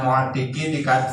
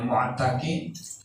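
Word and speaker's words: مُعْتِقِي: Di kasril aini, ini cara baca mu'tiqi, dikasrohkan ainnya jadi mu'tiqi. Wa qad tuftahu, kadang-kadang juga difathahkan jadi mu'taqi.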